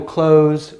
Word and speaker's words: clothes: one cloth right but when we get this es here the th goes away so this sounds like close so casual clothes workout clothes so some